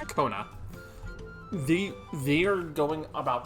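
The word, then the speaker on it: Koana: is focused on what he zor ja and kanana or sorry Kona I keep saying kanana because of Moana right yeah but it's pronounced Kona the they are going about this as I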